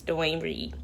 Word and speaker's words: Duane Reade: it right here it's not Walgreens here it's Duane Reade we have to go there first so yeah